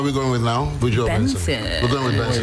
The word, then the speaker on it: BNXN: Buju Benson. We're going with Benson.